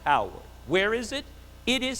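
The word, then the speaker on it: Haworth: for life was Howard it looks like Hayworth it is pronounced Howard where is it it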